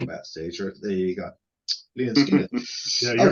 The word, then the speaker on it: Lynyrd Skynyrd: But yeah, pronounced. Lynyrd Skynyrd, pronounced.